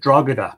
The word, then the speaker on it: Drogheda: way, from other countries, tend to pronounce it Drogheda because they think the G should be pronounced. But in fact, the G is silent and it's pronounced Drogheda.